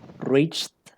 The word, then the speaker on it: reached: Reached, exacto, con la D.